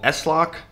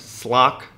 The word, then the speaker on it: slock: And in this video, I'm going to be using this display locker called S-Lock. Maybe you could pronounce it Slock, but that sounds kind of disgusting. So let's just go with S-Lock.